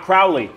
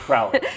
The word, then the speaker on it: Crowley: of East Webster Defenders you notice how I pronounce his name correctly you did you did not Crowley Crowley not crowler Cooper stum finds Crowley